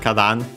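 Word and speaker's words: 花壇: Uh yeah, he says first and foremost we have Kadan which means uh flower b uh funny enough there are actually other kadam. This is clearly this one based on the context accent on the first moa.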